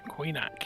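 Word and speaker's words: Coinach: That's how you pronounce it. Coinac.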